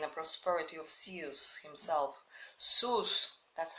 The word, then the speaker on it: Zeus: Zeus, that's how you pronounce it, Zeus, who will not have brought this on anyone unless it brought benefit to the world as a whole.